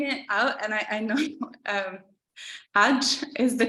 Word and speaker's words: Hajj: I kind of when I was reading it out, and I know Hajj is the correct pronunciation, but for some reason I was thinking